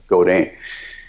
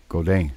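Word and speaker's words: Godin: would be more like Goden Goden yeah Goden without the D at the end you know but I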